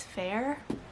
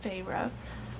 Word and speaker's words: Feyre: I always pronounce it in my head as Fair, but I think it's Feyre.